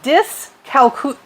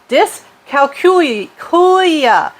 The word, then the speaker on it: dyscalculia: You also have something called Dyscalculia. I always mispronounce it. Dyscalculia.